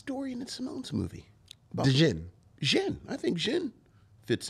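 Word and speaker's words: Djinn: It's just Jin. Well, it's, all right, Jin, but it's spelled... You're like doing like Django. Sorry. Well, I'm saying that so people spell it correctly. Right, that's mostly why I'm saying it. Because they'll look up Jin. The D is silent.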